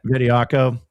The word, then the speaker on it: Bediako: Bediako.